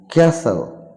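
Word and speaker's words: castle: ক্যাচাপ কেচাপ মানে কেচাপ এখানে টি will be silent ক্যাসেল মানে দুর্গ বা প্রাসাদ হ্যাসেন মানে তাড়াতাড়ি এখানে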